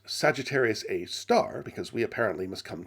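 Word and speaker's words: Sagittarius A*: i can however remain supremely peeved brown's choice of name for it for those who don't know sagittarius a asterisk pronounced sagittarius a star because we apparently must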